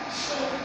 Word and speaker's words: chez: non il pas chaise le Z ici il est mué on ne le prononce pas répète chez oui chez moi bien